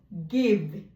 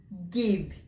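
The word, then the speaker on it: give: এরকম আরো কিছু শব্দ রাজা বলেছিলেন, যেমন গিভ, গিভ। তো শেষে যদি ই বসে সে সাইলেন্ট থাকবে এবং এর মতো উচ্চারিত হবে, গিভ।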